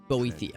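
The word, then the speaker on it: Boethiah: approach the shrine of boethia boethia that's how you pronounce it sounds a secret for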